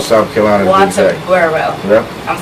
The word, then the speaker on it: Walterboro: Walterboro.